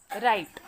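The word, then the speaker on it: write: देखो बच्चों, जब मैंने 3 नंबर का कॉलम रीड किया तो मैंने कैसे रीड किया? रिंकल, Regal, राइट. मैंने W का प्रोनाउंसिएशन किया क्या? No. Here W is silent.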